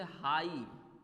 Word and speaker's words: high: हाई, HIGH, हाई, HIGH, यहाँ पे GH क्या है आप लोगों का, GH आपका यहाँ पे छुपा हुआ है, ठीक ना बच्चों। हम आई बहुत जगह GH क्या होता है, साइलेंट होता है बच्चों, साइलेंट होता